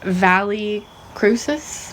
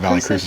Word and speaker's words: Valle Crucis: But Valle Crucis? That's how I call it, Valle Crucis. I've heard people call Valle Crucis in North Carolina. Too, but yeah, Vallecrucis. Yeah, and it's actually a Latin word, and I had no